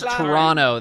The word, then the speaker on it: Toronto: It's Toronto. They don't pronounce that final T.